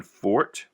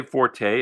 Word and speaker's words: Forte: the artist was john forte some people say forte it does have an e on the end but i believe it is pronounced for but this was done